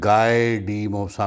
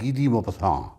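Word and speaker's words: Guy de Maupassant: افسانہ ہے موپساں کا، بعض لوگ اس کو تلفظ میں گائے ڈی موپساں بھی پڑھتے ہیں، GUY سے جو کہ نام ہے۔ بہرحال فرینچ پروننسیشن اس کا ہے گی دی موپساں۔ یہ نوجوانوں کے لیے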